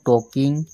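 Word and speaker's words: talking: ভাবা হু আর ইউ টকিং about who আর ইউ টকিং about yes টি এ এল কে আই এন জি ইয়াত এল silent হয়েছে টকিং about কার কথা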